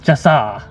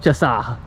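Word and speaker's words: Chaw'se: okay so i guess according to this is pronounced chassa so i've been saying it the wrong way this whole time it's called chassa so we're checking out the chassa exhibit or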